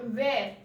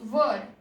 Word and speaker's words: were: Here remember in mind the pronunciation is were, it is not where, it is were.